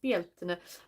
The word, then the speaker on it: Beltane: I mean, Zoe was trying to look it up years ago on a like a Gaelic translator how to pronounce it, and it was Beltane, but I say it in the kind of the same metallic voice that the computer told it when we did it at the time.